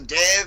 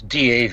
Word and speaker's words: Dav: And you pronounce it dev when it's Dav. It's it it's funny like the New Zealand accent. Yeah. Like sort of as if you were saying Dave without the E.